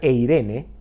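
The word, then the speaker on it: εἰρήνη: en el original griego la palabra paz se pronuncia e irene y significa libre de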